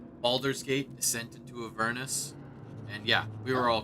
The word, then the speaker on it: Avernus: I think Avernus is technically the canonical way. But yeah, because, yeah, it's like a furnace, but Avernus.